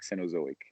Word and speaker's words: Cenozoic: You're actually not the only one having difficulty pronouncing the title. I can do it for you. It's Phanerozoic to Mesozoic, Cenozoic.